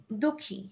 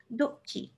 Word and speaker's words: দুঃখী: বানাতে যেমন হচ্ছে দুঃখী হ্যাঁ এখন এই বিসর্গটার উচ্চারণটা কেমন হবে এটার উচ্চারণটা হবে হচ্ছে কি এটা যদি কোন একটা জায়গায় মাঝখানে থাকে একটু ধাক্কা দেওয়ার মতন যেমন দুঃখী দুঃখী হ্যাঁ দুঃখী দুঃখী